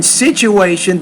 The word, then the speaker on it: situation: to be respected eb and then situation that tu there Elena you want to pronounce that as a CH sound so situation situation alright